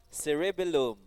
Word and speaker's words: cerebellum: Four syllables. C, re, bell, loom. Cerebellum.